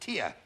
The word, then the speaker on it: Teja: Ah, Teja is pronounced Tia.